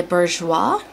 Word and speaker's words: Bourjois: This is the Ultra Black Clubbing Mascara by Bourjois.